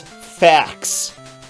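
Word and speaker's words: Phfax: Your name is Fax, and that's spelled P-H-F-A-X. Just in case you didn't know there was an F sound, they put both PH and F in there.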